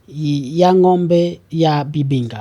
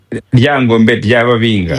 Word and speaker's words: Lyangombe ly'Ababinga: I don't know if I'm going to pronounce it the right way. There's this word you're saying, "Yangombe ya bibinga." I think that's the right translation, the right pronunciation. Yes, Lyangombe ly'Ababinga.